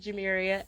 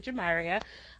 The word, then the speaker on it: Jamaria: name at first glance might pronounce it jamiria i understand that but it's actually jamaria my nickname is